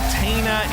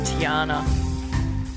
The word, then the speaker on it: Tiana: listener first time caller it's Tiana what did I say it is Tiana what did I say you said Tina and I it's spelled t i a n a but we get there Tiana it's all right it's not the first time I've heard Tina oh really oh wow